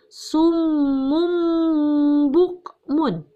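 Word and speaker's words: صم بكم: Kemudian contoh yang kedua, ada kata summum bukmun. Nah, contoh iqlabnya ini, tanwin domatain bertemu dengan huruf ba.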